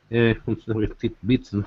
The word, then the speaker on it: tidbit: Americans say tidbits with a D.